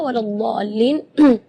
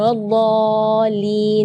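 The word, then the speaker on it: وَلَا الضَّالِّينَ: Mad di situ kita harus panjang membacanya 6 harakat karena di situ hukumnya mad lazim kalimi mutsaqqal, jadi membacanya waladhdallin 6 harakat. Terus setelah waladhdallin di situ ada huruf lam yang ada di atasnya ada tasydid. Itu seringkali ketinggalan waladhdallin. Nah, itu berarti tidak ada tasydidnya.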